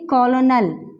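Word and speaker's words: colonel: है यह शब्द है हम इसे मोस्टली इस तरह से पढ़ने हैं कर्नल दिस इस रंग ठीक है ये प्रनंसीएशन हमारे पास रंग होती है हम इसमें ल को जो है प्रोनाउंस नहीं कर सकते ल का कोई साउंड प्रोड्यूस नहीं होता है क्योंकि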